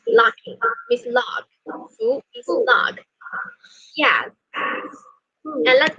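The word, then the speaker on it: 福: And the Chinese pronunciation of this character is Fu means lucky, means luck. Fu means luck.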